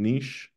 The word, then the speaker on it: Niš: niche Nomad weekend so Niche is NI sh there's a Serbian letter called a sh which is like an sh you could say so nich is NI sh nich but uh sometimes we